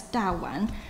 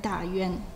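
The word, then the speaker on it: 大宛: First of all, it is noteworthy that in Shiratori's view, the Chinese name in ancient Fergana should pronounce in Mandarin as Da Wan rather than Da Yuan.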